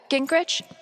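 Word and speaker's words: Gingrich: Steph uh Grich, is that how you say it?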